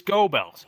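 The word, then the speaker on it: Goebbels: In American English, how we pronounce it is gobells.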